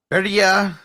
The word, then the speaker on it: Birria: Birria tacos.